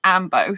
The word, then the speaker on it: Ainbo: can i spell a a-i-n-b-o but it's usually pronounced ambo so if you haven't seen the movie amber